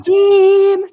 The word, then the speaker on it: Vadim: Hey, am I pronouncing it correctly? Because that's how I pronounce it, but I might be saying no, that's exactly how you pronounce it. And Vadim, like that.